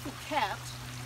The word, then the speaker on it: Phuket: And of course the largest island in Thailand is pronounced Phuket and spelled phonetically in English, fuck it.